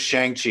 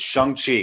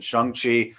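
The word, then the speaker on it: Shang-Chi: as a result and everyone says shang chi it's sheng chi kevin feige said chung chi at the presentation so everyone usually says shang because it's spelled that way but it's september 3rd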